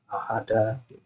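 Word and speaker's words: أحد: Ahada asyara, ya, meskipun nggak ada harokatnya, antum tahu, oh ini bacanya fathah, ahada.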